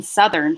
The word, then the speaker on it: southern: counterparts, northern and southern, not only does the TH in the middle change voicing, it's now in the middle, it was the end before, but the vowel in southern changes from south.